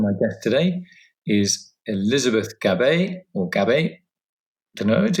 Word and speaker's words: Gabay: My guest today is Elizabeth Gab, which rhymes with game, I've just been told.